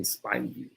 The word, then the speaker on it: Spivey: My man says, Dennis Sperling, my last name rhymes with poison ivy. So it's Spivey.